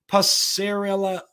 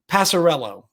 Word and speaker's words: Passarello: One of the returning players on this Colorado roster is Louis Passarella. Oh my gosh, I absolutely butchered that. Passarello.